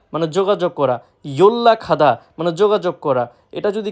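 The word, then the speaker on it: 연락하다: ইয়োল্লা খাদা মানে যোগাযোগ করা। এটা যদি কেউ উচ্চারণ করে ইয়ন রা খাদা, সম্পূর্ণরূপে ভুল। সঠিক উচ্চারণ ইয়োল্লা খাদা মানে যোগাযোগ করা।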